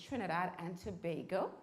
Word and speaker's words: Trinidad and Tobago: I come from, I know Sherman told you, Trinidad, and he was pronouncing it wrong. It's Trinidad and Tobago.